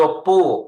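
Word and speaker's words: 不: ศัพท์ ใน บท นี้ ปู้ จะ เป็น bu เสียง ที่ 4 ออก เสียง ว่า ปู้ แต่ ถ้า เกิด ว่า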